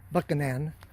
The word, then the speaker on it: Buchanan: he lives this is in uh buchanan georgia they pronounce it buckingham georgia so anytime they have anybody coming into town that says buchanan they know they're an outsider there's the bus